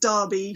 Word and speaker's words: Derby: It's where I come from is and it it's actually pronounced Derby for for UK.